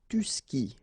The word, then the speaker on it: tu skis: And then tu skis. Well, exactly the same thing, even if you get this s, well, actually the is mute. You don't pronounce it, so you don't pronounce the final s either, okay?